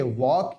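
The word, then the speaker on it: walk: डब्ल्यू ए एल के वॉक यानी टहलना यहां भी एल साइलेंट होगा एस आई टी सट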